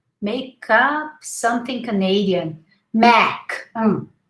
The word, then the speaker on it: MAC: Mac. Remember the three fingers? Mac.